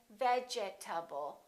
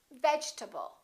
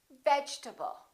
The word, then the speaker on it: vegetable: the e is dropped we don't say vegetable a lot of my students say that your table or vegetable this e disappears and this a is reduced because it's part of the unstressed syllable and we say vegetable vegetable let's look at